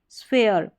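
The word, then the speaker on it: sphere: अब यहां पर फ यह पी एच है ना इसको फ करके पढ़ रहे हैं। स्फेयर स्फीयर और यह है एच मॉस फेयर।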